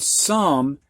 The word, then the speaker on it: some: the prior lessons but come and some not only have an O sound for oh but the e that silent e at the end does not make the o say it's long sound so it's got a couple tricks to it in these words all right and then